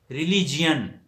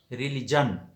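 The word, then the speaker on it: religion: ایک ہے ہم کہتے ہیں ریلیجین. وہ جین ہم اس لیے کہتے ہیں GION ہے، تو یہ تلفظ غلط ہے، ریلیجین. اس کا صحیح تلفظ ہے ریلیجن. جین نہیں بلکہ جن، ریلیجن صحیح تلفظ ہے.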